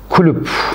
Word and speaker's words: Chicxulub: Orada Chicxulub Kulüp diye okunuyor.